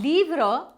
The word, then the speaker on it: livres: So, a will become they and livre with an S. Same logic as English. Des livres, a book, some books. A livre, des livres. The pronunciation is the same. Livre, livre.